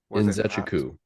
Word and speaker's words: Nzechukwu: Nzechukwu is how you pronounce that.